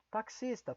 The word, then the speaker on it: taxista: coloque o ch aqui taxista palavra estrangeira Então coloca aqui vem de táxi derivada de táxi né Então coloque aqui KS então isso vai auxiliar